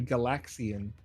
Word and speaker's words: Galaxian: a direct successor to galaxian which was also pronounced with emphasis on the second syllable LAX okay so I was